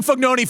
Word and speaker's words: Fognini: you who are like, why are you calling Fognoni? I go, because I've called him Fognoni for 20 years in the locker room. Shut up. I know how to say his name.